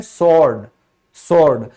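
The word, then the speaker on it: sword: फिर है तलवार, तलवार को स्वॉर्ड नहीं कहते, क्यों, क्योंकि W जो है उससे पहले S आया हुआ है, तो हम इसको कहते हैं स्वॉर्ड।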